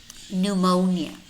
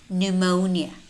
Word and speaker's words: pneumonia: which in which case the letter P is not pronounced it's silent listen and repeat pneumonia pneumonia pseudonym pseudonym psychiatrist psychiatrist